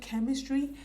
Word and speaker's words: Ch3mistry: It is titled Chemistry. The E is spelled as a 3, so it is CH3 mystery. So it is pronounced as the word chemistry.